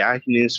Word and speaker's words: Agnes: Escreve Agnes, mas a pronúncia é Agnes aqui, porque foi como ela encontrou o nome no testamento do pai dela.